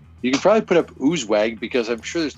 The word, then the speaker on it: Oozewag: Yeah, but ooze is normally pronounced US when you're talking about a name or a person or place. So that's why I kept typing US instead of ooze.